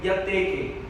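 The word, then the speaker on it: διαθήκη: A palavra para testamento no grego é diateke, né?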